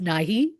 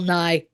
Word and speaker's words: Nighy: the great Bill Nye, which I always thought was Nighy, but from my understanding, it is pronounced Nye.